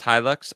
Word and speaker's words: Hilux: cash for clunker thing it's pronounced Hilux oh okay I like Hilux better I'm going to pronounce it Hilux same truck it looks